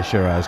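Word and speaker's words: Siraj: about uh Muhammad sir I say sir you say shiras yeah yeah it it's just feels counterintuitive I know I should say sherz cuz I heard his name pronounced out anyway what was so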